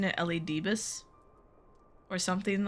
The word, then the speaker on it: Elidibus: So I've been pronouncing it Elidibus or something like that.